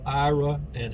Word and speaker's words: Iraan: And they had two daughters, Ira and Ann. And that's where the name of the town came from, Iraan. But it's pronounced Iran or Iran or something on Google.